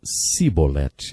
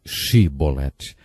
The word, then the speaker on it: Shibolete: Eles não conseguiam pronunciar o som CH, e por isso diziam Sibolete, ao invés de Shibolete.